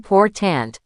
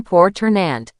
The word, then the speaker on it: important: Learners often say, I am poor tant. Natives say, I am poor ternant. The last syllable almost vanishes. It becomes a schwa.